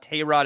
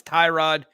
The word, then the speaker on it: Tyrod: I learned yesterday that everyone's pronouncing Taylor's first name wrong it's not Tay Rod it's Tyrod he doesn't correct anyone when they call him Tyrod yeah I heard Evan